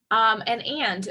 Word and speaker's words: and: And so the structure word and is de-emphasized by reducing it to an right? So the vowel sounds reduced to a schwa and the letter D is silent.